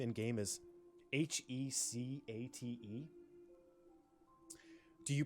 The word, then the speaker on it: Hecate: How do you pronounce it? I would guess number one, like Hecate, but who knows? Okay, Grizz. Greek goddess, yeah. Use number three.